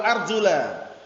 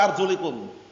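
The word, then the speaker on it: أَرْجُلَ: Kalau Syiah Rafidhah bacanya wa arjulikum. Arjuli bacanya. Karena ma'tuf ke masah. Jadi kalau Syiah Rafidhah kaki cukup diusap. Salah atau keliru? Salah dan keliru. Yang benar arjula ma'tuf ke mana ma'tufnya?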